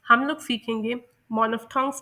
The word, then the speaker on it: monophthongs: मैं आप लोगों को ये डिस्कस करने से पहले बता दूं कि इस लफ्ज़ को ब्रिटिश इंग्लिश में मोनोफ्थोंग्स प्रोनाउंस किया जाता है और अमेरिकन इंग्लिश में मानोफ्थोंग्स प्रोनाउंस किया जाता है।